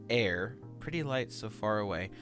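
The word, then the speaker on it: Aer: not for me um it's called uh a e r or i think it was supposed to be pronounced air pretty light so far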